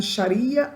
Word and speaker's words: charia: elas são fortemente baseadas na charia ou xari né só uma pronúncia diferente que são leis islâmicas